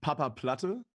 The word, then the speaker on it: Papaplatte: platta congratulations for your first win did i pronounce it okay oh yeah yeah it's uh papa platter in germany never heard an uh non-german speaker